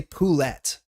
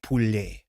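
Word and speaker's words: poulet: You don't say pullet but you say ple, right? How do you say ple? How do you say fried chicken? It's ple, which is this. Again, two T's that end and they're both soft T's.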